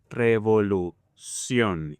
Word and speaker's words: revolución: It turns out that in Spanish, most words ending in CIÓN, you will place the stress in the last syllable, like this. Revolución, educación.